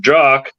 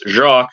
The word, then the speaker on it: Jock: has worked with with jock um I don't think it's Jacques because he's actually Scottish um you didn't like